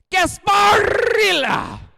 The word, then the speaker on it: Gasparilla: Gasparilla! That's how you pronounce it.